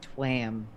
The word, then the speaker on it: Tuam: thank you the tuam I always pronounce it twam you know like tram but with a W instead of an R well I I appreciate